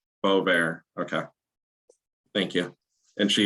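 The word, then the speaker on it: Boisvert: shortly um is uh is attorney you said boysberg was that the pronunciation is she present in the room with you you appeared correct way to pronounce it is Bo there Bo there okay thank you and she is present in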